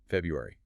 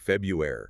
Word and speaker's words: February: The common slip-up is missing that first R, right? Turning it into something like February. Exactly. Or even February. People often drop that first R. But that's not technically correct.